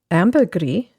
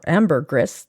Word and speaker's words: ambergris: Tamarind transcendental meditation ayurveda ambergris or ambergris depending on who you listen to How to pronounce it Alchemy pseudoscience feng shui and Chiropractic Homeopathy comes in at number 23.